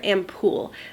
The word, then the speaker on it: Ampoule: And one product I thought was so interesting is called a Moisture Ampoule, and I think that's how you pronounce it. I don't think you pronounce the E at the end.